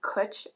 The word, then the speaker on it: Cwtch: But W actually acts as a vowel in Welsh. So this is Cwtch, rhymes with butch, and that's your Welsh lesson for the day.